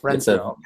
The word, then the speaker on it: Renfro: Renfro? Renfro, Rentfrow, just like it's spelled. Renfro.